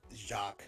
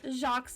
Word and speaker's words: Jacques: It's pronounced Jacques. Jacques, that's what I was thinking.